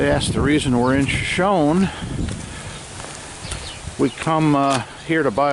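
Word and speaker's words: Shoshone: Hey guys, coming to you from the famous Crowbar Cafe and Saloon in Shoeshone or Shoeshone, California. I think the locals do pronounce it Shawnee.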